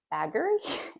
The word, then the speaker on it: Bageri: But this pattern is named or a or Baggery if you're pronouncing it phonetically. This is the Wor Bakery in Danish and it is inspired by